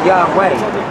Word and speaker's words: Yahweh: Yeah, that's Yahweh. No, Yahweh. It's Yahweh. Yahweh. You're saying it's a pronunciation?